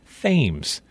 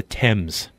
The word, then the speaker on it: Thames: course it's named after but in connecticut it's pronounced fames which makes the british soldiers bristle because any real subject of the crown would pronounce the river the proper british way and call it the thames so here at the mouth of the fames